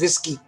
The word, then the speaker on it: WSGI: you pronounce this is whiskey like whiskey but with a G you pronounce this as